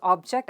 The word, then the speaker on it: object: the first word is object as a noun so the rule is when a two-syllable word is used as a noun or adjective the stress is always on the first syllable of course there are